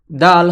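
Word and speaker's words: د: দাল হরফটি জিহবার আগা সামনের উপরের দুই দাঁতের গোড়ার সঙ্গে লাগিয়ে উচ্চারিত হয়। দাল দাল। জিহবার আগা সামনের দুই দাঁতের গোড়ার সঙ্গে লেগে দাল উচ্চারিত হয়।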